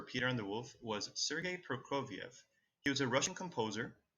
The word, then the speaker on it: Sergei Prokofiev: And here's how we pronounce his name. Sergei Prokofiev.